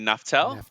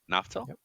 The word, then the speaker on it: Naftal: absolutely excited to have absolutely how do you pronounce your last name Sir naftel yep naftel naftel I hate mispronouncing names so when I'm off